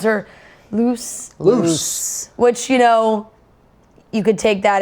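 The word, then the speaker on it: Luz: She got Logan's attention, but then got very upset when Logan called her loose. Which, you could take that as loose, like just, you're a loose lady, or loose, L-U-Z, that's a name, or loose, short for Lucy.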